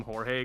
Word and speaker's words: Jorge: And I'm like, "Jorge." And he goes, "Why?" Why? And I'm like, "Yeah." And I'm like, "Because it's in Spanish."